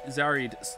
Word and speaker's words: Zarad: the latest record from zarad pronounced Zar zarid thank you uh Award winner